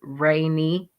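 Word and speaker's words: Rayne: have trouble with that and think that that's rainy but it's still rain so it's still pronounced just like r a i n just r a y n e so I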